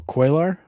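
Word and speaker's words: Cuellar: Oh, quailar.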